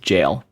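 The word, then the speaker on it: gaol: can uh learn from it this is just pronounced jail but is it it's old timey British pronunciation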